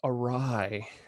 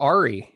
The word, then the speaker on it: awry: He was supposed to go inside of a test rabbit, but things went awry. Or Ari, if you read it. That's how you say it. That's how you spell awry.